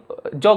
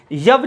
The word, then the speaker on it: यव: जौ को दरअसल जौ नहीं, जौ गलत उच्चारण है, यव जो होता वो क्या होता, सही उच्चारण।